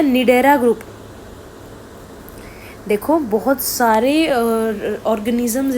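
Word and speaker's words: Cnidaria: तो निडेरा ग्रुप जो है स्पेलिंग देखो इसकी सी एन आई डी ई आर ए निडेरा group जो है उसके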